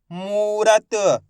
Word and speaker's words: मूरत: मा में बड़ू की मात्रा मू, रा, त मूरत। कैसे पढ़ेंगे, मूरत, ऐसे नहीं पढ़ना मूरत। अगर आप मूरत पढ़ दोगे तो छोटू की मात्रा का उच्चारण हो जाएगा, खींच के पढ़ेंगे मूरत।